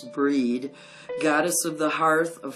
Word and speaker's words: Brighid: Celts this holiday honor the goddess Brighid or bride pronounce breed goddess of the hearth